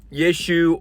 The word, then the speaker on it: Yeshu: It was pronounced Yeshu, or another way that I can't pronounce because there's this like weird stop thing that you do with your mouth that I, as an English speaker, have never figured out how to do.